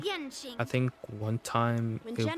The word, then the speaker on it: Yan Qing: Yang Ching. Well, I always mispronounce the really Q's because graduation.